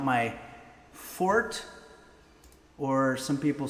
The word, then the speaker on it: forte: Uh, now as a lot of you know, gaming is not my fort or some people say forte, but I think that it's a French word, so it would be pronounced for fort.